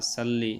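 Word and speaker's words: صلِّ: করে আপনারা নিবেন আল্লাহুম্মা সাল্লি আসলে সাল্লি না আল্লাহুম্মা সাল্লি বাংলাতে ভুল আছে সল্লি সালাতান সল্লি সাল্লি হবে না সল্লি হবে তাইলে বাংলাটা দেখে নিবেন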